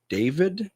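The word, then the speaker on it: D4vd: Is it pronounced David? Maybe. Yeah, it's been pronounced David because the four is supposed to be an A.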